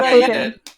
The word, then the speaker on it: Plo Koon: Plo Koon? Is that his name right? Did I say his name right? Yeah, Plo Koon.